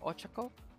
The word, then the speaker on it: Ochako: Did I pronounce that right? Yeah, Ochako.